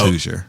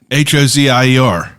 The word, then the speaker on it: Hozier: That's Hoosier. Oh, I never knew how to pronounce his name. Yeah. Hozier.